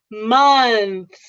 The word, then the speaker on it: months: So make sure you get the mun and then add the th, and then we'll add the s at the end. Mun. So that's the way it goes. I know, it's a lot of work to pronounce that one word, months. But yeah, but people normally say months.